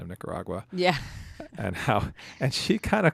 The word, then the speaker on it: Nicaragua: Nicaragua. Like agua.